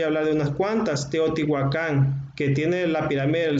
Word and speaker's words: Teotihuacán: Mucha gente pronuncia Teotihuacán, pero no, es Teotihuacán porque en las lenguas nahuas se acentuaba las ciudades, las regiones, caía el acento en la pronunciación era del acento agudo.